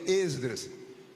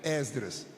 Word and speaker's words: Esdras: Muita gente pronuncia, já que é reunião de obreiros, muita gente pronuncia Esdras. Se você puder, pronuncie com o E aberto, Esdras. Mas se disser Esdras, nem por isso nós vamos brigar.